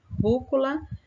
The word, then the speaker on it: rúcula: sílaba a sílaba tônica rúcula a sílaba tônica está na antepenúltima sílaba é uma palavra proparoxítona e cebola é uma